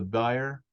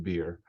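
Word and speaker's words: bier: came up and touched the buyer and the bearers Stood Still I think that's pronounced beer and he said young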